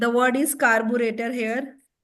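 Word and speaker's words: carburettor: double T ओ R again there इ stress on टी कार्बोरेटर तो double T ओ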